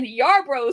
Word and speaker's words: Yarbrough: He let Yarbrough start instead of Stroman.